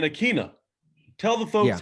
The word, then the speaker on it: Ikhine: See, it's Ikhine, but I always used to think it was Ikhine, so like that's on me. I think I told the media when they asked me to phonetically spell it, Ikhine, and then it was like that's not. I found out that wasn't the right way, so that's on me.